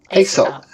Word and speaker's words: Aesop: Aesop. As in Aesop.